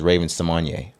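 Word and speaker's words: Raven-Symoné: great Ravens you know she came out last week and said we've been saying it wrong the entire time her name is Raven samanya all right look Raven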